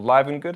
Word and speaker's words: Livengood: These are the REVIT Livengood, or Livengood, however you want to pronounce it, 2 gore-tex.